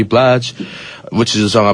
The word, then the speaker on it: Blige: It's Mary J. Blige, right? Yeah, that's how you say it, right? Mary J Blige. I get confused. Blige. Well, how would you how this bliggee sounds a little off to me.